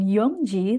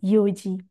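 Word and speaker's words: 四時: Hati-hati bukan Yongji, tapi Yoji.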